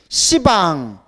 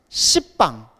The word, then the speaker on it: 시방: 십방. 십방하면 발음이 너무 세죠. 그래서 불교에서는 십 이렇게 발음이 센 걸 뭐라고 불러요? 시방이라고 불러요.